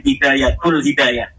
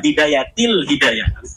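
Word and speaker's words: بداية الهداية: Kenapa ada huruf jer B katanya dibacanya bidayatul hidayah? harusnya bidayatil hidayah.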